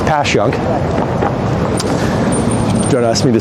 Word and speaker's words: Passyunk: and and this is pasun Avenue as a tourist would call it passun pass passun passun anyway it's passun don't ask me to